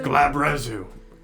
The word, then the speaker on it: glabrezu: Yeah, they're called Labrezu. glabrezu.